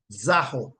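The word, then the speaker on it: ζάω: Greek to English as Z-A-O, and it is pronounced zaho, zaho, zaho, zaho, right?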